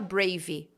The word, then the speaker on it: brave: Toda vez que terminar com E, se for mais do que uma sílaba, você vai tirar esse E daí. Então, você não vai falar brave. Você vai falar brave, como se parasse no V.